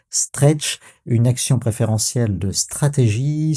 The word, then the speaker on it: STRC: Quatre petites lettres mais ça se prononce stretch.